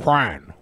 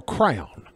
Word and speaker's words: Quran: Quran or crayon. This is how Brett pronounces the name of the holiest book in Islam.